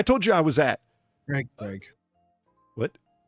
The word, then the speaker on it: Craig: And he goes, and yeah, for you Americans out there, Craig, it's like Veg. And no, you don't say Veg like Veg. You say it like this, and it rhymes with Craig.